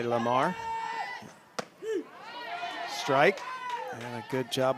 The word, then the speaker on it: Lhamo: So Alexia pronounces her last name Lemo. We would say Lamar.